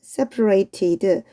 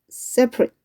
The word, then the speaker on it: separate: 자, 아까 전에 우리가 separate 이렇게 나왔을 때 이때는 형용사로서 분리된 이라는 뜻이었어. 그런데 얘가 동사로 쓰이면 separate 하면은 분리시키다 라는 뜻이 있어요. 형용사로 발음할 때는 separate. 동사로 발음할 때는 separate. 발음이 살짝 틀립니다.